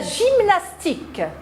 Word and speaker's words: gymnastique: j on a vu le g est un son doux devant les lettres e y on a vu nos syllabes jeu j&j continuant on a vu nos mots avec les syllabes intéressés est ce la peur jeu et j&j avec y la gymnastique la gymnastique regardez ils